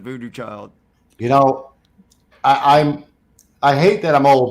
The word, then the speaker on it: Voodoo Child: Yeah, which is how they spell it, which it looks like voodoo chili to me, but it's actually, we pronounce it Voodoo Child.